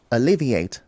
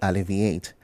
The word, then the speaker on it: alleviate: And then we have the word alleviate, not alleviate.